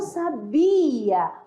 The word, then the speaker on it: sabia: é uma sábia e na segunda não sabia opa não tenho assento mas a sílaba forte né está na segunda eu e o sabiá